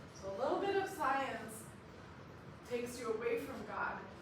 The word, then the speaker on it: science: Science in French we pronounce it science.